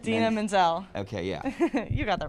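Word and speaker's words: Idina Menzel: it's Menzel or um is that how you pronounce her name I I did not it's Dina Menzel okay yeah you got that right how many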